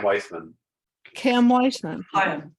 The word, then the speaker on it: Chaim: closely associated with and a close friend of Cam Weissman. Cam Weissman. Chaim, it's Chaim, actually. Fine. Chaim. The key is silent.